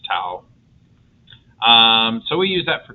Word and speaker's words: tau: Um, it's pronounced tau.